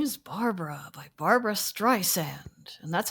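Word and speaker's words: Streisand: year was my name is Barbara by Barbara Strand and that's how you pronounce her name you don't don't pronounce it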